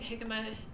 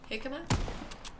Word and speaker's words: jicama: Yeah, so it's spelled, I think jicama, J-I-C-A-M-A, jicama.